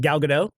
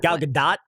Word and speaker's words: Gal Gadot: Are you And then guys Gal Gadot? yeah. Gal Gadot? Gadot? Just- Gadot? Is that how you say it? Gadot. Gadot. It's like, well, she's Israeli, so Gadot. it's pronounced kind of like Israeli-ish.